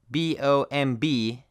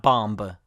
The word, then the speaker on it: bomb: your hair or bomb B OMB is just pronounced bomb not bomba the B is completely silent and some BT combinations